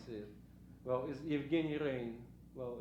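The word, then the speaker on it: Rein: as I can see it, well, is Evgeny Rain. Well, it's kind of spelled like rain, yeah, but it means a different thing.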